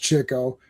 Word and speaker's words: Chico: I will say that was it Duck Soup or whichever the one where Groucho and Chico, and it is pronounced Chico, like he dresses up as Groucho and they do the mirror, like the fake mirror thing.